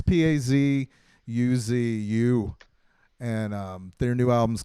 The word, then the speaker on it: Pazuzu: I knew Oh, how to pronounce it at one time, but it's Pazuzu, and their new album's called Mestering Kunzi, and